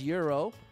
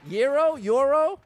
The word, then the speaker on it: gyro: Jackson says euro. You can't just spell it. Gyro. Euro. Uh-oh. Oh, did we get a checkpoint? Hero, gyro. There you go. Euro is the culturally correct pronunciation, as I've been taught.